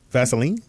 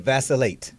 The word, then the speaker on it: vacillate: of the day is vacillate Vaseline no vasate vacillate what does that mean